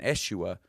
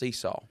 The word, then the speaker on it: Esau: was on Jacob and Eshua, because I didn't know how to pronounce Esau. And I did the whole Sunday school lesson on Eshua, and people were snickering